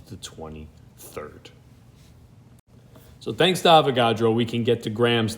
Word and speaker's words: Avogadro: spelled his name wrong i think it's avogadro yes indeed pardon me that's avo not avagadro my apologies but avogadro definitely